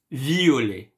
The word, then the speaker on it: violet: Yes, violet. Be careful to the pronunciation. Violet, violet. Okay.